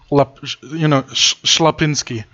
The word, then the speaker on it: Schlapinski: Yeah, so you pronounce it basically SH and then, Schlapinski.